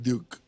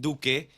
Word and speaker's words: Duque: Entonces, por fin, ¿es Duque o es Duke? Duque. Yo digo que es Duke. Duke. Porque la forma en que está escrito es Ya. Duke. Bueno, mi apellido realmente se pronuncia Duke.